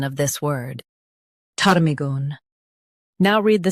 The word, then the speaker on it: ptarmigan: Stress tar and keep migan soft. Tar, me, gun. PTARMIGAN.